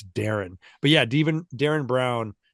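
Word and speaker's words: Derren: That and and Darren is spelled D E R R E N. So, even when you read it, you don't remember that it's Darren.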